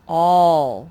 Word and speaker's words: all: sometimes they don't sound usually a says ah but if you were to sound it out like that al that sort of sounds like somebody's name like al hi el but this is not al this is all for whatever reason this a makes the ah sound like the ostrich card it's a silly sight